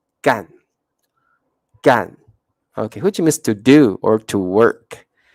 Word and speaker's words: 干: we pronounce it like when you use the word as a verb and it's like in the fourth tone gang to do or to